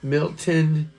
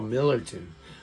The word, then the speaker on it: Millerton: He's a Taurus, May 3rd, from Milton, Connecticut. Or Milton, New York. Is that where Amanda is from? What is she from? Oh, Millerton. Yeah, okay. Sorry. You're missing a syllable.